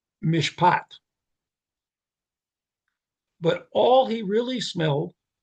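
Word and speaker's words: mishpat: God was looking for the wine of justice pronounced Mishat. But all he really smelled was the stinky juice of oppression, Mishak. So instead of mishpot justice, he gets mishak oppression.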